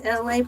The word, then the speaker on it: Elay: My name is Elay, pronounced like LA, like the city.